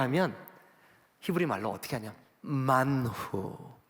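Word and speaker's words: מן הוא: 만후. 근데 후를 어떻게 발음하냐면 이렇게 해요. 만흐.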